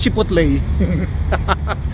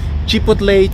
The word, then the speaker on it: chipotle: chicken wrap ah chip chipley chipo ba yun chipotle Hindi ko alam kung paano i-pronounce yun eh chipotle chicken wrap yan aan oh mga Papakita ko